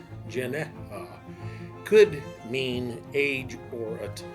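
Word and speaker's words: γενεά: herself itself themselves the word used for Generation pronounced Janea could mean age or a time period let's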